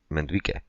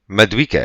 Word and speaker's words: Madueke: And then the other one is the Chelsea, Mendique. Is that how you say his name? Who? Mendique? Who are we talking about? Right? On Chelsea? The winger? Madueke.